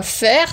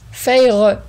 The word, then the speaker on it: Feyre: qui m'a dit non, ça se prononce pas Fer, ça se prononce Feyre.